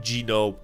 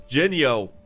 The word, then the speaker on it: Jinyo: It's not Gino, it's Jinyo. It's Jin and then Yo. Like yo mama.